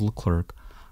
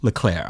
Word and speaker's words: Charles Leclerc: For 35 laps, he kept one Charles Leclerc, or Leclerc, I'm sorry. I've been getting comments about my pronunciation.